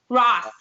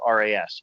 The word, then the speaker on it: Ras: My first name is 3 letters, R-A-S. I've probably heard more than half a dozen pronunciations for that. It's pretty common. You know what the funny thing is? I knew it was Ras, but so I don't